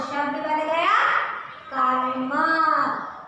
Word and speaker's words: कर्म: तो क के बाद हम क्या करते हैं, र का उच्चारण करते हैं, उच्चारण कीजिए कर्म। तो पहले र उच्चारण करते हैं, बाद में क्या करते हैं, म को कहते हैं कर्म।